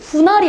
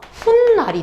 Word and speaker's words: 훗날: 그리고 후 더하기 날을 했더니 후날이 아니라 훗날이 됐대.